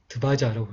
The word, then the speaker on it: ध्वज: 그래서 이 타바야로 이렇게 되어 있지만 이제 이 발음을 이렇게 드바야라고 드바자라고 이렇게 읽으면 되겠습니다.